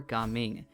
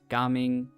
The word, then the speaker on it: Gaming: the kit analysis for Ga Ming. Now a lot of people I know have been saying Xiao Ming, Ga Ming, whichever way you're going to be pronouncing it. It is not gaming.